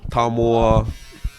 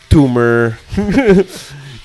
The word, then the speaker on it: Tumua: Yeah, there's some people mispronounce my name, but they're getting there. Tumua, Tumor.